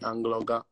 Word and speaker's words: Anloga: To, yeah, you have to put like a G in between the N and the L, Angloga. You know, so that's how you get it, like Angloga. Angloga. Oh, okay. Like Angloga, but the G is silent though, somehow. It's really silent.